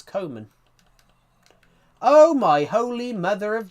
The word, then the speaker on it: Koeman: Koeman means Koeman. Yeah, I know. But in the pronunciation, it's Koeman.